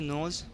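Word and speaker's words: nose: ई की कोई आवाज़ नहीं है, ई को साइलेंट कर दिया हमने। इसी तरीके से नोज़, इसमें भी देख सकते हैं आप कि ओ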